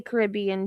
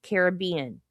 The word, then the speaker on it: Caribbean: I know you can say it either way. I tend to say Caribbean, too, but not when you're talking about Pirates of the Caribbean. It's Caribbean.